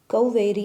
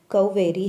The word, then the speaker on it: कावेरी: काली उस समय बोली, मैं कौवेरी हूँ। दक्षिण भारत में एक नदी है जिसका नाम कौवेरी है, जिसे भूलकर लोग उसे कावेरी कहते हैं। संस्कृत शब्द हुआ कौवेरी, अंग्रेजी में आगे हिज्जे था कौवेरी।